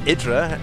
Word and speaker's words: IdrA: to some idra uh or idra is the right way to pronounce it I don't know if